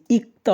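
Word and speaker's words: 읽다: র ফ থাকে তাহলে বাম পাশেরটা সাইলেন্ট থাকে ডান পাশেরটা উচ্চারণ হয় সাধারণ নিয়মে যদি ভাতমে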